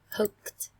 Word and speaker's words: hooked: Hooked, hooked. Cái đuôi ed ở đây các bạn đọc thành âm tờ cho cô nhé. Âm t.